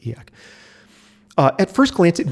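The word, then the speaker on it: e/acc: uh and they um abbreviate that as eak that's how they pronounce it eak uh at first glance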